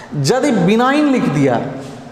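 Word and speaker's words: benign: बिनाइन, यहाँ G silent रहेगा, याद रखिएगा।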